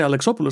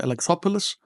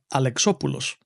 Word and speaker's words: Alexopoulos: well alexopulos and I say alexopoulos because I'm a fellow Greek and that's the way you pronounce it you don't say alexopulos you say alexopulos because we actually come